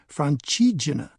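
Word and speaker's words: Francigena: The name means roughly the way through France and is pronounced Franchina.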